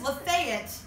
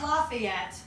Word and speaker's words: Lafayette: It's Lafayette. It's not Lafayette. There's nothing French or whimsical about this pronunciation.